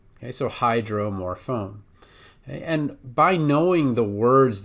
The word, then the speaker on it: hydromorphone: I wanted to practice Hydromorphone and somebody wants me to pronounce it I would say phone more phone dromorphone hydromorphone okay with morphine it would